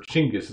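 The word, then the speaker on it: Chinggis: the Mongols starting with Genghis Khan her chingas I guess the better way to pronounce that connection with the way Mongolian people speak today jingus said I want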